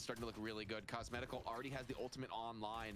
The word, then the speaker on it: Cosmetical: I always thought it was Cosmical. Oh, it is Cosmetical.